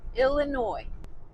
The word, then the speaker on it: Illinois: back over into Illinois don't call it Illinois with an s on the end even though there's an s on the end it's a silent s don't do that Illinois so yeah I've lived